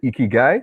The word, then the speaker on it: ikigai: I remember in a session, Create Your Narrative with Simone, she referred to it as your ikigai. Did I get that pronunciation correct?